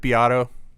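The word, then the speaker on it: Beato: guitar player um do you ever watch rick biatto no oh okay i don't know i'm sorry man it's it's it it's spelled beto b-e-a-t-o uh his first name is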